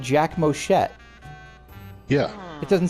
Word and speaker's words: Moschet: okay head Cannon Jack moshet is pronounced that way using the Japanese naming convention and he is the